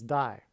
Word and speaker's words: Dye: played Dyersville that's why this player's name is die Dyersville is spelled d-y-e-r-s-v-i-l-l-e and the White Sox won the World Series in 2005.